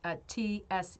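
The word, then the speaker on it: Tsegi: It sounds like it's supposed to be said like Segi, like Tseghi.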